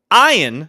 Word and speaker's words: Ian: West Orange New Jersey ion Ziering who should be Ian because that's what it's spelled broke out playing Steve